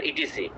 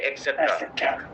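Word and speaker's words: etc.: করেন এক্সেট্রা দিবেন আপনারা ইটিসি আপনারা কিন্তু ইটিসি বলেন এটা সঠিক উচ্চারণ হচ্ছে এক্সেট্রা হুম শুভ এখন মনে করেন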